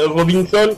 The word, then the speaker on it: Robinson: Je m'appelle Robinson. Robinson. Robinson. C'est assez particulier ça, Robinson. C'est comme ça qu'on prononce.